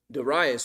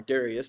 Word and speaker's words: Darius: After Darius, by the way, or Darius, depending on which way you want to pronounce it, both I think are legitimate, who eventually is the king that rises up over this empire?